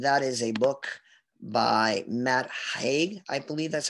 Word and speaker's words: Matt Haig: The next book we want to look at is called The Midnight Library, and that is a book by Matt Haig. I believe that's how you pronounce his name.